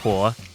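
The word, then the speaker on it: 火: It's pronounced huo. In Japanese, not only is the character for fire the same, but it is also pronounced similarly, hi.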